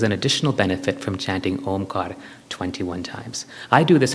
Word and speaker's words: Om: Om, as you heard, has three parts, but they're actually four syllables. There's three syllables. Excuse me. Three syllables and four parts. It is broken up into three syllables. Aara, uk, and makara.